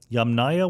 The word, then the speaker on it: Yamnaya: doing correct yeah okay so and are the yamnaya one of these am i pronouncing it correctly that's right that's a ghost